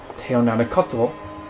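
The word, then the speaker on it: teonanácatl: It certainly didn't help the Aztecs that their word for mushrooms, pronounced teonanacotl, literally translated to God's flesh.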